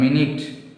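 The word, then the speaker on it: minute: இப்போ இதை பாருங்கள், மினிட், மைனூட் அப்படின்னு சொல்லுவோம். ரெண்டுமே ஸ்பெல்லிங் சேம் தான். ஆனால் சவுண்டு ப்ரொனவுன்ஸ் பண்ணுறது எப்படி இருக்குது, டிஃப்ரெண்ட்டாக இருக்குது.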